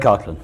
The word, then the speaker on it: Coghlan: so your full name is Coghlan Kirkland okay now that's those Irish names I have